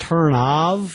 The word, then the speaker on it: Turnoff: Turnoff, Turns, is here today to be the co-host. Well, hello. And technically it's pronounced Turnov, but Turnoff.